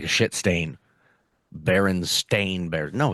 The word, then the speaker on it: Berenstain: No, but it's the Berenstain Bears. I see. I remember it as the Berenstein Bears. S Stein. T E I N. I Yeah. just didn't pronounce it like that. I think I said Berenstein or something.